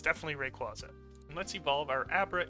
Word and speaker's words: Rayquaza: And yes, that's how it's pronounced, Rayquaza. It's not Rayquaza. Don't let the official Pokemon company tell you how to pronounce it. It's definitely Rayquaza.